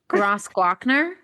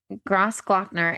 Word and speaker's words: Grossglockner: It's called Gross, Gro- Grossglockner. Yeah, Glockner. Yeah, Grossglockner. you're a queen. Thanks. Grossglockner. It's spelled interestingly in like this is how it's spelled in English, but in it, yeah, anyway.